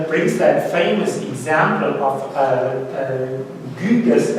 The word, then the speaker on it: Gyges: But Plato already brings that famous example of Gyges, as I would like to pronounce him in Old Greek.